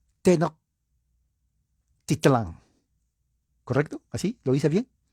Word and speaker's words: Tenochtitlán: Déjeme ver si lo puedo pronunciar. Tenochtitlán. ¿Correcto? ¿Así? ¿Lo hice bien? Tenochtitlán. Tenochtitlán, poniendo fin al poderoso imperio azteca.